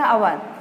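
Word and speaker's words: hour: जैसे ये हॉर, इसको अपन ये कहाँ से स्टार्ट हुआ है, कॉन्सोनेंट शब्द से, लेकिन इसको अपन पढ़ते हैं अवर, इसमें ए साइलेंट होता है, तो वहाँ पर भी एन उपयोग होगा।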